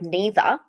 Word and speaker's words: neither: Like, for example, the word neither, we say neither or neither. So we kind of, with some words, we say both the American and British pronunciations. Well, it's not American because we don't say neither. We don't say the R.